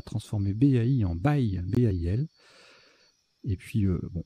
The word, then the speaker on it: baile: Le tirage suivant, là c'est un petit coup de vocabulaire, il faut connaître baile, ça se prononce comme ça, B-A-I-L-E, donc un E au bout de bail.